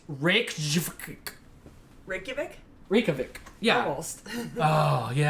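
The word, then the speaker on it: Reykjavík: Can you pronounce it correctly? I'll try it and I'll let you. It's Reykjavik.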